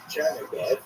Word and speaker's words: Chernihiv: And there's another Isaac of Chernihiv, sometimes referred as Isaac of Yitzchak of Chernigov, that would be the Russian pronunciation of the same place, also a 12th century